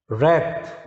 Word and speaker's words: wrath: रैथ, रैथ, डब्लू इसमें silent है, WRATH, रैथ।